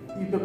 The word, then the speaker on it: IUPAC: একটা কাজে লাগে না, ইউপ্যাক পদ্ধতিতে আমরা জৈব যৌগের নামকরণ করি। ইউপ্যাকটা কিন্তু আগে থেকে জানো, ইউপ্যাক হচ্ছে যে international union of your and applied chemistry, সেটা কি এটা IUPAC হলেও উচ্চারণ হবে ইউপ্যাক।